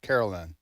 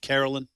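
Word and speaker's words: Karoline: levit uh so so it's but it's she pronounces it Caroline Carolyn I Carolyn I've heard Carolyn love it but I okay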